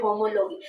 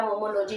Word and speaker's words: homology: नाम दे सकते हैं, होमोलॉगी। होमोलॉगी या आप इसको कह सकते हो सिमिलैरिटी इन बिहेवियर, ठीक है, या होमोलॉजी, जैसे आपने प्रोनाउंस करना है, ठीक है, होमोलॉजी या होमोलॉगी, ठीक है।